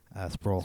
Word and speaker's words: Sproul: Sproul.